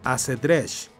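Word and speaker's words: acedrex: Después, en árabe, se le solía agregar un artículo al principio, quedando ash-shatrang, que el castellano antiguo adoptó como acedresh, pronunciando la X como SH al estilo de aquella época.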